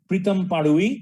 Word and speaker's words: Pritam Padui: This year it's being presented to Pritam Padui. That's the right pronunciation, though the spelling is a little different.